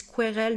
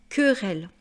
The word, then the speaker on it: querelle: Voilà, je le dis parce que j'entends beaucoup de gens qui disent querelle. Non, non, non. Querelle, hein, c'est la lettre K. Q plus U, ça fait le son K.